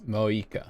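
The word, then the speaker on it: Mavuika: Oh, and feel free to call me Mawika. It's what all my friends call me, and I like it that way. So the V is silent. It's Moika.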